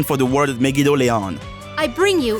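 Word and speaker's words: Megidolaon: ever heard an official pronunciation for the word megon I bring you megid Doan huh so it's pronounced megid Doon if you think this changes anything for me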